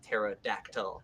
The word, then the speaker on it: pterodactyl: But pterodactyl as like my favorite name because it's like pterodactyl because the P is silent because it's a pterodactyl.